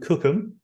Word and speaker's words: Cookham: a little village called cookham spelled like you know cook ham literally um it's about 20